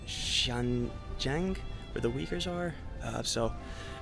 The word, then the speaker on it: Xinjiang: It's very Cantonese versus the Sichuan province versus Tibet versus, I think it's pronounced Xinjiang, where the Uyghurs are.